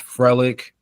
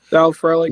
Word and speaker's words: Frelick: You got Yelich who contributes, Frelick. I think I said his name wrong. Sal Frelick, Yeah.